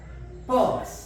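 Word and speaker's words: purse: नस ज like this P यू आर एस ई पस नहीं रारा नहीं बोलना है बल्कि लंग आ है और जो हाफ साइलेंट आ है जो य तक आता है पर्स पर्स पर्स नहीं पर्स बटुआ अब हमारी आ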